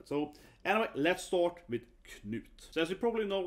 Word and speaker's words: Knut: Sometimes you see with a D in Danish, in Swedish it's T, so it's pronounced Knut, right?